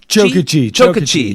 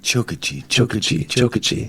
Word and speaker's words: Chokachi: Chokachi. Yeah. David Chokachi. Chokachi. It's like a train, like Chokachi.